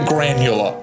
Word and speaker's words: Granula: How to pronounce Granula. Oh, that's the worst name. Okay. He called it Granula, apparently. Like granola with a U.